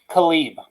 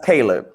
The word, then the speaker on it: Caleb: i'm gonna deviate okay my next pick is going to be khalid it's actually pronounced caleb caleb okay you know you're